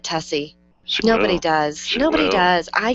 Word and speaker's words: Tuccy: something just tell her that's not how you pronounce tussy and she'll offer you alternatives she'll never get it she'll never get tessie nobody does nobody does